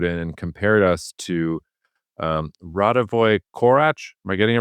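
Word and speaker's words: Radivoj Korać: First of all, one of our listeners wrote in and compared us to Radovoy Korach. Am I getting it right? Did I pronounce it correctly?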